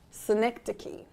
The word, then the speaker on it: synecdoche: Synecdoche.